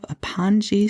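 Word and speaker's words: pongee: bags she will have aoni silk is and I don't know if I'm pronouncing that right it's p o n GE e aoni silk night dress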